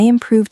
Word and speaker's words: improved: If you say, I improved sales by 10%, that is music to a manager's ears. Improved ends in a V, just like solved, so it gets the D sound.